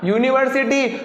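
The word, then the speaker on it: university: यूनिवर्सिटी, भले यहाँ पर यू दिख रहा है, लेकिन उच्चारण क्या हो रहा है? यू, यज्ञ का, यू यज्ञ का।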